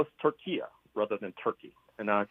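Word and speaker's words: Türkiye: Horne, before we move on to my other long list of questions, explain why you call Turkey Turkia. Well, I'm trying to call this nation what it calls itself.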